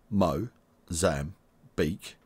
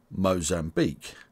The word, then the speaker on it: Mozambique: South Africa Tanzania Zambia and Zimbabwe and you pronounce Mozambique like this Mo Zam beak Mo Zam beak Mozambique subscribe for more videos from English language training